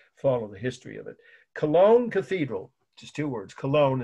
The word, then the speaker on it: Cologne: would say oh that's that wonderful cathedral in kagy kagy Germany okay if that helps you to spell it yeah know it's of course you can